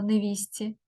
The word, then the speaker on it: невістці: іншомовних слів і це невістці а вимовляємо невісті хустці невіщчин тобто тут